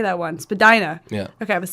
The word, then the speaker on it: Spadina: Spadina.